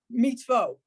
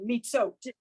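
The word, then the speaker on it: מצוות: Mitzot. No, it's mitzvo.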